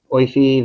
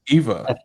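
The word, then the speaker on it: Aoife: her first name here, Oifi Valkyrie. Is that how you say her first name? I think it's just Eva. I think it's Eva, but how they spell it is different.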